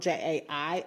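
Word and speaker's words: Jai: to write my name, even though it's spelled J-A-I, I noticed that it mispronounced it. Okay. And so I'm going to write it phonetically. Okay. J.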